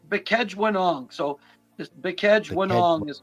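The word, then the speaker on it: Bkejwanong: So it's Bekejwanong. So it's it's tough to pronounce. Bekejwanong.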